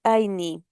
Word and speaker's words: Ayni: Donc le fond, comme vous le savez, la plupart de nos partenaires écrivent Aini comme A y N I. Donc la prononciation correcte est Aini.